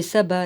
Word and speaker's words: sabbat: shalom bah c'est shabbat mais normalement shabbat c'est S a a donc c'est sabbat là S a bb a T ou il va falloir que